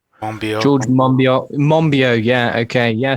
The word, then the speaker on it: Monbiot: well-known environmental activist not sure quite how to pronounce his name I think it's George Monbiot George Monbiot Mumbi oh yeah okay yeah so um he